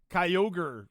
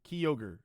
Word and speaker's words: Kyogre: You added like three syllables. I don't I didn't say all of that. Kyogre. Kyog Kyogre. Kyogre. Yeah, that's all I said.